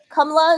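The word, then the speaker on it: Kamala: Kamla is like it's flat. It just there's no stress. It's just like straight.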